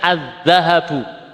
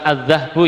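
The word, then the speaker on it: الذَّهَب: ini perhiasan ya emas azzahabu bacanya azzahabu Ya bukan azzahbu ya azzahabu huruf Syamsi Huruf syamsiahnya apa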